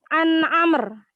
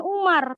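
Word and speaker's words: عمرو: hadis Hai hadits ke-24 Amr jadi kalau di sini ada Wow yah tulisan main-main Roro kemudian wow maka bacanya bukan Umar tapi Amr makanya kan Amr Bin as tulisannya kan Amru gitu kan maka bumi di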